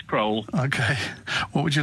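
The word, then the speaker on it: Crowle: Phil's in, I don't know how you pronounce it, Crowell, is it, in Lincolnshire? Hello, Phil. Hi, yeah, it's Crowell.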